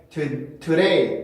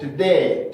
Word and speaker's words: today: 여기에 D 발음이 강세 음절의 시작에 있고 그 음절의 강세가 있기 때문에 today, today 이렇게 해줄 수가 없고 today, today, today, today, today, today 라고 발음을 해줘야 됩니다.